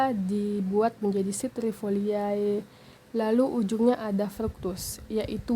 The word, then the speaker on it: citrifoliae: Sini ada Citrifoliae. C di sini diikuti oleh huruf I, sehingga penyebutannya itu berubah menjadi S.